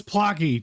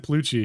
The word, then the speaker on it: Plocky: Oh, it's Plocky. Dude, it's Plocky. Oops. I said Plucci.